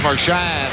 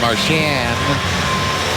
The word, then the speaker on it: Marchand: Right there, I think that's Marchand. They want to pronounce it Marchand, although it's a French name.